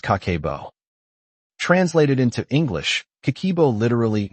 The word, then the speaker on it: Kakeibo: She called it Kakeibo, pronounced kah-keh-boh.